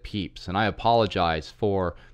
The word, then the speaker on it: Pepys: on gambling as Samuel Pepys has been pointed out to me it should be said peeps and I apologize for